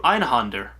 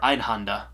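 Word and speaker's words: Einhänder: I end up playing through Einhander. I believe that's how you say it, or Einhanda, on the original PlayStation.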